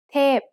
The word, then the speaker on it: เทพ: เทพ is a falling tone. Now let's write it. สระเอ ทอทหาร พอพาน เทพ Remember that most vowels come in long and short pairs.